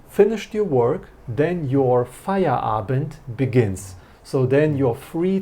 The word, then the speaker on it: Feierabend: Okay, so as soon as you have finished your work, then your Feierabend begins.